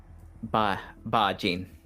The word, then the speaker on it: Bah-jin: Bah-jin.